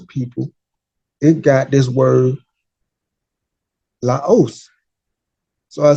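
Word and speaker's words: λαός: And this word is pronounced laos, laus.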